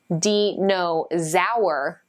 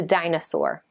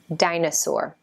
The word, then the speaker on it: dinosaur: is a hard one too some students say dino sour that's kind of what it looks like but that's not it it's pronounced the dinosaur dinosaur you know what those are there's giant reptiles